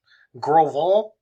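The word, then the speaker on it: Gros Ventre: happened at grovel that's i had a look how to pronounce that groval wyoming it's french i think that was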